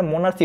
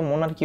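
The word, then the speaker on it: monarchy: আচ্ছা মোনার্কি, আচ্ছা আগে না এটা মোনার্সি বলতাম, জানো, পরে না ইয়া আল্লাহ, এটা তো মোনার্কি হইব। আচ্ছা রাজতন্ত্র, মোনার্কির অর্থ কি, রাজতন্ত্র, ঠিক আছে। এটার উচ্চারণ কি হবে ভাইয়া, মোনার্কি, নট মোনার্সি, আগে বলছিলাম একবার, পরে দেখি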